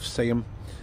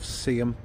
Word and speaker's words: Seaham: amazing little town of Seaham. I'm saying Seaham, you guys probably don't even understand what I'm saying. It's the real way to say it is Seaham, S-E-A-H-A-M, Seaham. But us locals say Seaham.